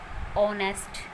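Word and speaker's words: honest: एच कुछ few words हैं जो एच से शुरू होते हैं और एच उनमें साइलेंट होता है। कुछ एक वर्ड है ये जो एच से शुरू होते हैं और वहाँ पर एच साइलेंट होता है। For example year, ऑनेस्ट, honour, our. तो यहाँ पर एच से शुरू है ये सभी वर्ड, बट यहाँ पर एच जो है वो साइलेंट है।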